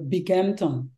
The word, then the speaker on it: Binghamton: Donc, mais paraît-il, on devrait dire Binghamton, bang, on devrait Gamma.